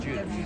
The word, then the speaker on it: DelGuidice: Get that name right, the way it's spelled. Del Judice. Del Judice. Well, I'll get it right now and then I'll forget. Oh, yeah. People are like, what is it again? Del Judice. Like Judas.